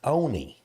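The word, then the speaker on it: Onia: Shirley M the town how would you pronounce o n i a Ona exactly we had exactly we had Miss Tabitha that used to be the proprietor of the do B she says it's Onie it's not on we we stopped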